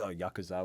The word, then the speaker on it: Yakuza: If you play the video game Yakuza, then that is Yakuza, which is pronounced properly.